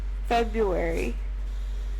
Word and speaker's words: February: February. Okay. That's how you pronounce it, right? I pronounce it February because there is a second R in there.